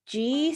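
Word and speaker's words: Ji: And what I remember most from her is that she said, it's G center spelled J-I, as you know, you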